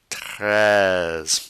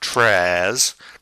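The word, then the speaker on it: très: then we have Tres remember the French are formed by saying e and not moving your mouth the air is Flowing out of your mouth the r is coming back from here it's not trash prayers no it's then we have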